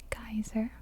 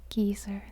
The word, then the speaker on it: geyser: way they do but it's not geyser we say geyser in america they say geezer in the uk but they say geez here in iceland and this was one